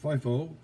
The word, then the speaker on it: FIFO: Under the more common inflationary scenario, FIFO, pronounced FIFO, first in, first out, would show a lower cost of goods sold than a LIFO, last in, first out system.